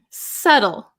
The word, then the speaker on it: subtle: bit difficult to explain subtle subtle silent be so delicate or precise